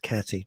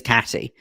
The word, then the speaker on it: Katie: I know it's spelt Katie, but it's pronounced Catty.